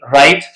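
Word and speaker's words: write: नहीं किया जाता डब डब् का भी पैटर्न है कि डब् के बाद जब आर आ जाए तो ये डब्लू जो होता है ये साइलेंट बन जाता है कि राइट राइट में भी डब्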